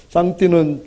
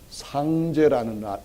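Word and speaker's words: 上帝: 제사를 드렸다 그렇게 얘기합니다 장띠는 중국식으로 한자를 발음하는 건데 우리 식으로 한다면 상죄라는 말이죠 그러니까 가장 높은 임금님한테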